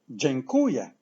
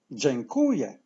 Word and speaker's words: dziękuję: now as you remember word stress falls on the syllable qu so let's say from the end yeah yeah whoo yeah whoo yeah genku yeah genku yes say thank you in Polish Jan Kuya Jen Kuya and now